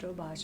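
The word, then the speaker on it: Doberge: his phone and it's spelled Durge, but it's pronounced Dobbage. It originated in Louisiana. interesting. And I said, "Well, um, let me research it." So, I researched the the Dobage cake and I said, "I I can make it."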